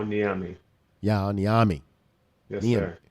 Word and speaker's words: Nyame: them up and uh dr niyame is that am i set pronouncing that correctly uh yeah niyami yeah on the army